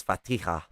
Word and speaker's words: Fatiha: highest pronounced okay um so it's fatiha uh like um actually that'll explain where like um um spanish names that use the j in place of the h get that sound from because i know